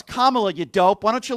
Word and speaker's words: Kamala: So, first of all, it's Kamla, you dope.